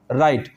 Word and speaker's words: write: जैसे WRITE, तो राइट, इसको क्या बोल रहे हैं हम? राइट बोल रहे हैं। W साइलेंट रहेगा और R का साउंड आएगा तो यहाँ पर हो जाएगा ये राइट।